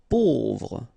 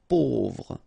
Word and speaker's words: pauvre: Pauvre. A, U together will produce this O sound. Pauvre.